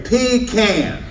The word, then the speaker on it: pecan: one business was to establish the proper pronunciation of the word and they said it is a pecan and that's what they've